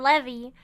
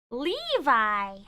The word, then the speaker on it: Levi: a side of look I'm going to have to break that habit of calling him Levy Levi I turn around and